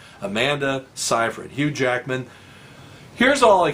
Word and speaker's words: Seyfried: It's spelled Seyfried, which sounds like Seyfried or something. It's Seyfried. Amanda Seyfried.